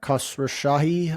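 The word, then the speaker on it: Khosrowshahi: The other thing, I didn't jot this down, but Dar uh Kasra Shahi, I believe is the way you pronounce his last name.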